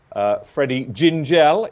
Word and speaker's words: Freddie Gingell: Freddie Gingell is how it's pronounced.